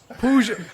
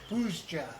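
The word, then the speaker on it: Puszcza: we should just, Puzda, at least they were like, there are people gonna have problems pronouncing this. Let's put this. Pushcha.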